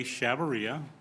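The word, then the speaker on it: Chavarria: your last name my name is shabaria last name is spelled c h a v is in Victor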